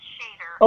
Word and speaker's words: Shadr: Shadr. It's pronounced Shader.